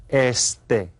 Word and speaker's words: este: this direction East in Spanish it's called EST Estee okay and Estee is East you can see